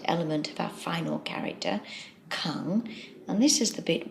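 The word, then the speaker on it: 館: Finally, we have the character which is pronounced kang, and it means a public building.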